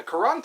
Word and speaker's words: Quran: along bisim I should read the quarin oh the Quran the Quran that's how it's pronounced Quran